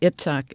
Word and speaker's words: Itzhak: stalking the wild Pendulum by xach bentov now itsok is spelled i t z h a k bentov